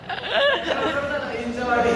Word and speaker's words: हिंजवडी: भाऊ चालला हिंजेवाडीला हिंजवाडी हिंजेवाडी हिंजेवाडी हिंजवडी असत ते ठीक आहे मला